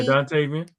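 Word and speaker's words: Dontayvion: Yeah, Dantavian.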